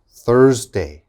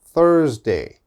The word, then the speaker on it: Thursday: the next one thursday thursday okay there's a th your tongue has to come out thursday thursday thursday all right next one